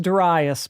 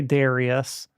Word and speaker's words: Darius: This is Das pronounced Duras, by the way. I know a lot of people say Darius, and I'm not I'm not here to be the pronunciation police.